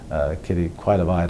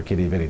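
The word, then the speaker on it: Quidi Vidi: We went for a walk around a lake called Quaidavide or Kitty Vitty, depending how you pronounce it.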